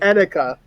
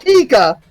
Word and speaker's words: Etika: Etika. Okay, Etika. There you go. Okay. Not Tika. Right.